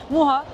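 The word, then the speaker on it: Mucha: By the way, I said "muha" as it's pronounced here , but it's also pronounced "muka" in the film and in English .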